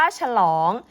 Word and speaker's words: ฉลอง: อ อะ ง งู ตัว นี้ นะ คะ เรา อ่าน ออก เสียง ว่า ฉลอง ซึ่ง เป็น เสียง ที่ มี หอ นำ ค่ะ เวลา เขียน คำ